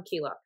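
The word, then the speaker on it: Keylock: Tom Keelock, that's how you pronounce his last name, which is the band's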